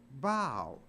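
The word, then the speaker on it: bough: but it's not pronounced buff it's pronounced bow so even O A. And there the O U G H is pronounced like a long O.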